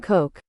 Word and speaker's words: Koch: I should probably look up how his name's pronounced first. Sebastian Coke.